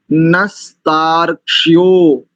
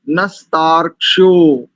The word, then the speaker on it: नस्तार्क्ष्यो: उच्चारण की दृष्टि से पकड़ो केवल नस्तार, और ये जो क्ष है ये आधा है, तो नस्तार्क्ष, नस्तार्क्ष्यो, नस्तार्क्ष्यो।